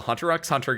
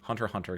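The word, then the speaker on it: Hunter × Hunter: Um uh so like the new ones are the invincible game, the Hunter X Hunter game, Hunter Hunter, excuse me. You don't pronounce the X.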